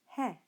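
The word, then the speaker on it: ἑ: Similarly, epsilon should be pronounced he.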